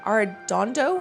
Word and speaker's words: Arredondo: Arredondo, or how do you say that name? Arredondo?